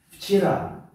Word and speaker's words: вчера: Вчера, вчера дар охир аст.